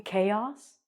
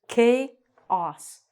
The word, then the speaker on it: chaos: And they're like, "You mean chaos?" Oh. "Well, why do they spell it with a c h and I say chaos?" And they're like, "No, it's chaos." So it's k os. Like Australia or Austria.